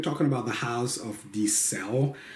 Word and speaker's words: Di Ser: about the house of the cell pronounced are wrong in the past as the sad with an are but is actually just like cell phone I did find the